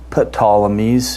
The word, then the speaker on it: Ptolemies: Actually, it's pronounced Ptolemies, if I do it according to the Greek, but we just say Ptolemies.